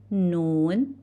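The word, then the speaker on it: ن: Noon. How we pronounce noon? From its name. Pronounce as N. As N in English.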